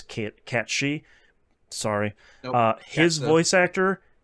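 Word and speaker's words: Cait Sith: Just ran into Kate Sith. I know I'm pronouncing it incorrectly. That's just how the game pronounces it. I know it's Cat She.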